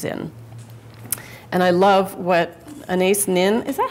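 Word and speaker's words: Anaïs: And I love what Anais Nin, is that how you pronounce her name? Anais, anybody know? Anais.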